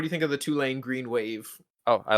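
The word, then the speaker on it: Tulane: up there mascot it's pretty how do you spell it two lane t u l a n e oh two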